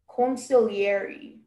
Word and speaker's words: consigliere: Hello, your word is consigliere.